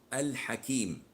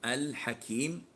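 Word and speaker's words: al-Hakim: dealing with moon so the L is obvious as in the name of al Hakim so al Hakim the L here is audible you can hear it you can say it and pronounce it so what is as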